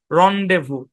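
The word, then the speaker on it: rendezvous: ইয়ে আর কি ইয়ে আর কি সেই লেসিফেয়ার রন্ডেভু হ্যাঁ কেমনে রন্ডেভু হইলো ভাই জানার দরকার নাই বানান খেয়াল করবেন উচ্চারণটা মনে রাখবেন আচ্ছা তো ক্লাস এ পর্যন্তই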